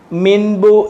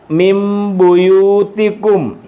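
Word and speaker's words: مِنْ بُيُوتِكُمْ: അടുത്തത് മിബുയൂതിക്കും മിമിബു കണ്ട ഇവിടെ മീമിന്റെ ശബ്ദം വരും നൂനിന് സുക്കൂൻ ആണെങ്കിലും മീമിന് സുക്കൂൻറെ ഒരു ഉച്ചാരണം വരും മിമപു മിമപു മിൻബു എന്ന് പറയത്തില്ല മിൻബു എന്ന് പറയത്തില്ല മിമപു മിമപു അതാണ് ഇവിടെു ചുമന്ന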